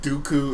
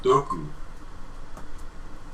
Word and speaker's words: Dooku: Sounds like doo-doo. Yeah, there you go. Or Dookie. Well, okay, I grew up with the German pronunciation of Dooku.